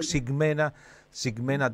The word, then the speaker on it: Ximena: Te quería contar tu también Ximena que es con X, ¿no? Por eso pronuncio Ximena Talento.